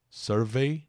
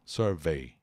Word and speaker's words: survey: Buzz e Survey atenção muitas palavras que terminam com e y Monkey money Sydney a pronúncia é i Survey não Survey Survey que é um tipo